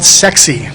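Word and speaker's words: CEXC: Well, there's an organization called SEXI. This is really how they pronounce it, SEXI.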